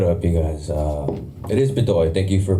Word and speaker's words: Bedoy: It is Bedoy. Thank you for pronouncing that correctly.